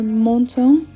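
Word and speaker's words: Menton: I first left for Monto France and yes I will pronounce that with a French accent because I've been corrected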